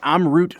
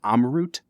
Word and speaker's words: Amrut: today we are trying am root Fusion I keep saying am root I am sure that it's probably pronounced amot am am root Brad